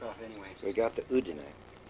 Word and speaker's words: Udine: we got to Udine, which I've learned to pronounce since we used to call it Udine area, which is near